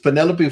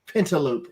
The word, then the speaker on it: Penelope: It's Penelope Ford, or as Booker T likes to say, Pentaloop Ford.